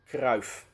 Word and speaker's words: Cruyff: of spelling and this the extra f is actually redundant at this modern age so it is just pronounced as a single f so his last name is pronounced krauf about the r in